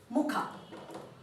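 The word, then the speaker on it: ಮುಖ: ising okay next is Muka Muka and face and make sure when you pronounce Ka needs to be stressed press Muka Muki wash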